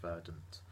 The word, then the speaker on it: Verdant: a bad thing about Verdun beer or verdant or however you want to pronounce it I think Lee is properly pronounced verdant and I'm not too